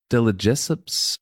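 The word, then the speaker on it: de Lesseps: Delajessups.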